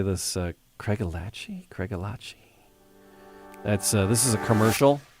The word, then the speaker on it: Craigellachie: Think of it as a love story. Craig fell for Ella, who gave her the key to his heart. Craig, Ella, key. Craigellachie.